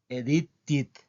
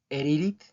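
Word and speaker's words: edited: Okay edit it eh con este verbo he escuchado que lo pronuncian erit más o menos así erit okay Por qué porque pronuncian tanto la d como la t como una r la t es una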